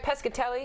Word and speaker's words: Pescatelli: have you back am I saying it right pescatelli yes you know you say four times and